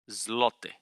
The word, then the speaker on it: złoty: The Polish currency is the Polish zloty. Yeah, it's like golden. How do I pronounce that? Zloty? Złoty.